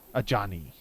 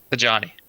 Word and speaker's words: Ajani: We got Agenai, Caller of the Pride. I would have moved quicker. Agenai. Well, how do you pronounce it? Ajani. A Johnny. Definitely a Johnny.